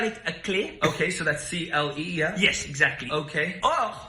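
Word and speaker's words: clé: And there there's no F because it's not cleft. It's cle.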